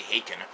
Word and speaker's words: Haken: You may remember with the Hawin review that I just did, uh, apparently I've been pronouncing the band's name wrong for years, by the way. It's apparently Haken, just like Bacon.